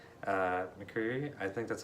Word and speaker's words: McCreary: I also have to compliment the score by Bear McCready. McCreary, I think that's how you say his name.